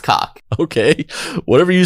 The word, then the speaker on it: Koch: That's cock, dude. That's cock. That word is pronounced cock.